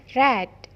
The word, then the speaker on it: read: Read yang artinya membaca, bentuk ketiganya menjadi read. Jadi penulisannya sama, tapi cara bacanya berbeda. Read. Cara bacanya seperti nama warna, red.